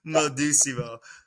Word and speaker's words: Modimo: say it you know like mod mode mood like how do you say it man it's like right so like you just you know say as the way it's spelled out it's called Mo doimo you know modimo um and there's the